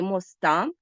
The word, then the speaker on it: моста: розрізняємо його за наголосом побачили що можна сказати моста якщо це значення пряме і мосту якщо наголос падає на о і має образне переносне значення адже значення цих слів